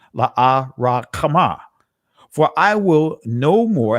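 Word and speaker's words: Lo-ruhamah: And the Most High said, call her name Lahuhaman, or La Rakhamah. That's the proper ancient pronunciation. La Rakhamah.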